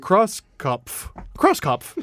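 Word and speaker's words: Krauskopf: The Indiana Pacers are hiring longtime WNBA executive Kelly Croxpuff. Did you just read Kelly. this? Did you just read this? No. I just still don't know how to say it. Crosskopf.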